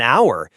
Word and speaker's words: hour: An hour. Even though H is a consonant, the sound is a vowel sound.